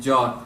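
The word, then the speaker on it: ਜਾਤਿ: Ji and Jat. Jati is Jati actually. It's a Sehari, but you don't pronounce it.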